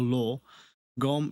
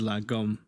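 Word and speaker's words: lagom: La rhymes with spa, or law, or law. Gom rhymes with bomb. Okay, gom, loom, or loom, or lot, bomb, or lum. Often spoken as la gom.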